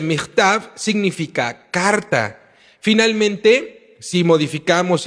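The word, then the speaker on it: מכתב: lo cambiamos por michtav, la pronunciación del kaf, quitamos el dagesh y lo ponemos como jav, quitando el dagesh, y dice michtav significa carta.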